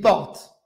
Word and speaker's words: porte: Tu dis une porte. Il y a un E à la fin. Mais je n'entends pas le E quand j'écris porte.